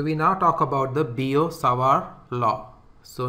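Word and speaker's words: Biot-Savart: now talk about the boo Saar law so notice that in the pronunciation this T is silent so this is given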